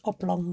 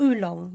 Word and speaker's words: oolong: I don't think Bobby meant oblong tea. Oh, oolong. You did spell it right. I read it wrong. I read it as oblong tea.